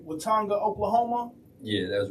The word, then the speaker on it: Watonga: So can you share with us, your journey from, being originally from a small town, I want to make sure I pronounce it right, Watonga, Oklahoma?